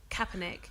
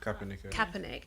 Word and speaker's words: Kaepernick: friend Colleen what's the surname how do I pronounce it Kaepernick Kaepernick I think he just lifted the whole lid